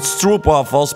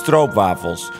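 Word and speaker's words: stroopwafels: only eat strob waffles some people pronounce it stro waffles but that's wrong it's strobe waffles so that's you don't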